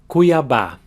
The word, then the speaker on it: Cuiabá: The acute accent over the last A tells you that that's an open A sound, and also that that's where the strongest syllable is.